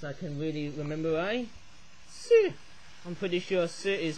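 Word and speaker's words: 四: Si. I'm pretty sure si is pretty much the Chinese word for number four. S-I, almost sounds like the word sir, but in S, if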